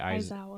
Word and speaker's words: Aizawa: Aizawa.